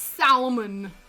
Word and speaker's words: salmon: went to school the kid who insisted we pronounce the L in the last name that was salmon it's salmon England went French with their spelling England went